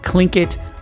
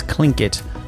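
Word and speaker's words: Tlingit: which is known for its totem poles and clinkit culture. And now that's pronounced correctly. Although spelled t l i n g i t. It is clinkit culture.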